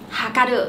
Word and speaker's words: はかる: Hôm nay chúng mình cùng học ba chữ Hán này cùng phát âm là hakaru.